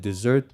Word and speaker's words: desert: Now, this word desert is spelled like desert, but it's pronounced like dessert because it's a word, an old English word that means like to deserve something.